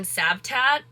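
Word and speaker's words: Cavtat: when we were in sabtat I think that's how you pronounce it please don't drag me in the comments but it's spelled with a c but it's pronounced with an s that is how he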